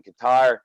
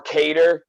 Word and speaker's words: Kattar: It's pronounced Kattar, but this guy says he's the New England cartel or something like that now. So we'll go with the American version here.